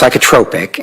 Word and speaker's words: psychotropic: It's pronounced psychotropic and okay.